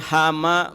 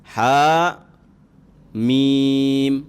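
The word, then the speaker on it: حم: Jadi bukan hama, bukan himi, bukan humu, bukan hami, bukan hima, bukan himu, tapi dibaca sesuai abjadnya, abjad hijaiyah, kemudian terputus-putus satu-satu, berarti ha mim, gitu ya.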